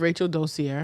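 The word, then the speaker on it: Rachel Dolezal: Rachel Dozier.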